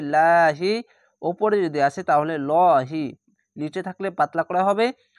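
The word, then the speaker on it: ٱللَّهِ: বিহাবলিল লাহি, খাড়া জবর এক আলিফ টেনে পড়বেন এবং আল্লাহ লেখা থাকলে ডান পাশের অক্ষরটি নিচে থাকলে পাতলা করা হবে লাহি, ওপরে যদি আসে তাহলে লহি, নিচে থাকলে পাতলা করা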